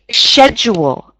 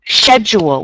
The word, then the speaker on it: schedule: also hear people um instead of saying schedule you might hear people say schedule schedule with more of a a sh sound at the beginning schedule rather than that C Sound and either are correct okay so if you